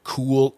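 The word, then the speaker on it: Kühl: seen that brand before it's spelled k-u-h-l cool engineered um I I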